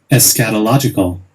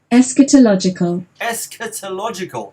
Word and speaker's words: eschatological: And this is how we say it. Eschatological. Well, that's how Americans say it. So let's see how British people say it. Here we go. Eschatological. Eschatological.